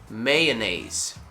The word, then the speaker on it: mayonnaise: like the month may then you want to go into maya maya it's not oh really it's maya and then in the second part you want to go into nace it's a you saw me on the street a mayonnaise okay once again different